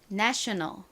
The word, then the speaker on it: national: 연결해보면 national 요렇게 발음이 됩니다.